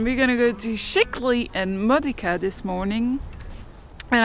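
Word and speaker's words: Scicli: we've been assured by the locals that it's pronounced sheekly bet you didn't see that coming from there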